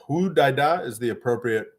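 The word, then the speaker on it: Hodeidah: Fadel says, Hudaida. Hudaida is the appropriate pronunciation of that Yemeni port.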